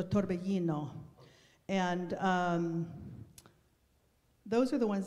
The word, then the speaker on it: torbellino: I heard more torbellino, okay? So that would be Italian pronunciation with a double L. So torbellino.